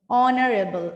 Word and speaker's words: honorable: সো এখানে দেখো এইচ দিয়ে শুরু হচ্ছে, which is consonant, but still এটার সাউন্ডস কিরকম, ভাওয়েলের মতো, honorable, right?